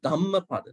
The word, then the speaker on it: Dhammapada: but it does not say, it does not reflect H sound over there. Say Dhammapada, not Dhammapada. When you say like this, you can go like this, which is wrong. And this is what we want to say. See? Now, when somebody says without reflecting H sound, Dhammapada, others understand it, but it should be Dhammapada, right?